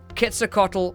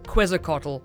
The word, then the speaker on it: Quetzalcoatl: So, Quetzalcoatl or Quetzalcoatl are both fine. Quetzalcoatl gets its name from the Aztec folklore god Quetzalcoatl, and that's why Quetzalcoatl is more apt, but Quetzalcoatl is fine too.